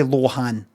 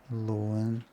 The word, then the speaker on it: Lohan: Lindsay Lohan tells people that they've been saying her name wrong this whole time because it's no Lindsay Lohan. Lindy loan name Lindsay and I are doing something.